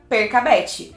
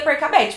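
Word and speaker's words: Percabeth: de Percy anab então a gente corta o y e corta o n e fica per kabet mas eu descobri que tem gente que não pronuncia percet para mim sempre foi Óbvio perabet é a única opção mas tem gente pronuncia perabet o que gramaticalmente falando não faz sentido porque o c seguido do a não não tem som de sai nenhum contexto né mas eu fiquei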